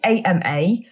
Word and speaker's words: Ama: word is pronounced it's ama so i'm probably going to say armor and amer sort of interchangeably so who are the